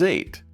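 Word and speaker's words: eight: Next up is 8. This one has a quiet G-H in the middle.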